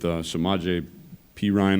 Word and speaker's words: Samaje Perine: But you look in the backfield with Samaje Perine, I believe is how you pronounce it, and Joe Mixon.